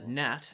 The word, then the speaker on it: gnat: and the bull uh nat spelled with a g flew over the meadow